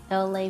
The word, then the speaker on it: Elay: I'm LA, pronounced like LA like the city.